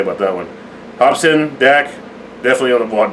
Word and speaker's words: Hopsin: No, I said Hospin. Something. Hospin or some shit. Yeah. I added an S in the fucking right after the O.